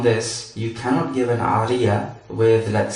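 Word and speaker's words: عارية: It is pronounced Aariya or Aariya.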